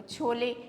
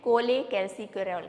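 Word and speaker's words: cholecalciferol: और तीसरे नंबर पे जो विटामिन D3 है, D3 का नाम है, देखो छोले, स्पेलिंग जब लिखोगे तो आपको छोले जैसा लगता है, लेकिन ये छोले नहीं है, कोले कैल्सीफेरॉल कहा जाता है, कोले कैल्सीफेरॉल, कोले कैल्सीफेरॉल।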